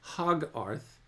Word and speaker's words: Hogarth: C his name became Hogarth or sorry, Hogarth to rhyme with Soggarth in Sogarth Aroon.